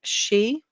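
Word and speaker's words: 四: The number 4 and dead is pronounced like she, like my name is dead.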